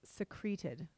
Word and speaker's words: secreted: feathers using its beak secreted secreted I'm sorry I'm sorry I am mispronouncing that it's secreted secreted okay s e c